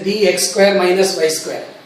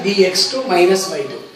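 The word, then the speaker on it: dx²−y²: Some people pronounce it as dx square minus y square, but it should be pronounced as dx2 minus y2.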